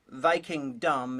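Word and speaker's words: Vikingdom: is real and it's called vy kingdom viking dumb is an equally good pronunciation it was directed by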